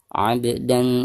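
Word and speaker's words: عبدا: Selanjutnya abdan idza shalla. Ab ba sukun sekaligus posisinya ada di tengah-tengah bacaan, maka dihukumi qalqalah sugro dan cara membacanya harus dipantulkan dengan suara pantulan yang tipis.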